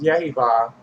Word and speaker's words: Jehovah: saying it, but Yahweh, Jehovah, the priest pronunciation of it is Yehovah, and Shekinah were superhuman